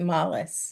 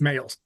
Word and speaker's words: Males: Is it Males or is it Mollis? Males.